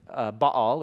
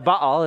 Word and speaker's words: Baal: His name's Baal, or Baal. That's how we butcher it in English. But Baal is how you pronounce the name.